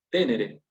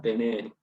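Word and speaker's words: tenēre: En definitiva, conclusión, como tenere tiene un macrón, es de la segunda declinación, de la segunda conjugación, quise decir. No es de la tercera, porque si no, se pronunciaría tenere, pero acá nos están indicando que tenemos que pronunciar tenere.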